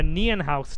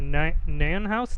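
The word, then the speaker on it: Nijenhuis: It's called the Nienhaus tensor. I was just very intrigued by the pronunciation of this word. It's called the Nienhaus tensor. Or I've heard it also called the Nienhaus tensor, but that's harder to pronounce.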